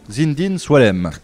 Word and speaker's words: Zinedine Soualem: un doanier français au même titre que vous zindin swem très très bien progrès c'est bien bien prononcé à la fin de l'heure il sera